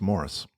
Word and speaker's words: Maurice: they are uh so that's Maurice yep Orange City Floyd was pronounced Morris yeah but they spell it wrong Morris is two RS and an is this is like Maurice like a like a like a song it's a good song well some people Steve